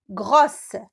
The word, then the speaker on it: gros: Par exemple, gros, grosse. Gros, grosse. Alors, lorsque je transforme l'adjectif gros au féminin, ça donne grosse. Alors, je sais qu'il y a un S à la fin que je ne prononce pas.